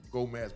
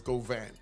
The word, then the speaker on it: Govan: Say his name right. I was saying Gomez before. It's Govan, right?